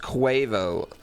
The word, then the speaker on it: Quavo: Lol, it's pronounced Quavo.